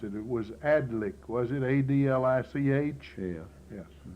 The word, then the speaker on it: Adlich: most valuable men we've ever talked to, and John Atlas at Brewers was the first cream buyer in the county. That I knew anything about. I believe I mispronounced it. It was Adlich, was it?